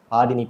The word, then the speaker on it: பாடினி: நிறைய பேர் ரொம்ப மாத்தி ப்ரொனவுன்ஸ் பண்ணுவாங்க. ஆமாங்க, பாதினின்னு கூப்பிடுவாங்க, பட்டின் அப்படின்னு கூப்பிடுவாங்க, பட்டினே அப்படின்னு கூப்பிடுவாங்க. சில பேர் புதினாலாம் கூப்பிடுவாங்க. எனக்கெல்லாம் கொஞ்சம் கஷ்டம் தான் அந்த மாதிரி ஒரு நேம் வச்சுட்டு ரொம்ப பண்றது.